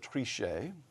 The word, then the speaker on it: Trichet: In public statements, the Journal noted, Jean-Claude Trichet, throwing a little French pronunciation to raise the tone here, quote, came about